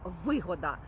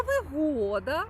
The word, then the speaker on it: вигода: Тож вигода наголос на перший склад - це зиск, користь або прибуток. Наприклад, я маю вигоду, тому що товаришую з дуже впливовою людиною. А вигода, наголос на другий склад - це комфорт, це зручності, це місце, можливо, яке дуже гарно обладнане.